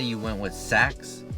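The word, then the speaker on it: Sachs: And then let's say you went with Saks, I think that's how you say it, Saks, there's no J in there.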